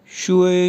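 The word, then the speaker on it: 学: अगर just word हो शुए XUE second tone तो उसका भी सेम मीनिंग होगा टू स्टडी, टू लर्न। तो प्रोनाउंस किस तरह से करेंगे? शुए शुए शुए।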